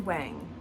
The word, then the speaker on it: Wang: Tanglewood to see Yuja Wang. I think everyone says Yuja Wang, but I think actually it's pronounced Wang. But that's just how everybody says it.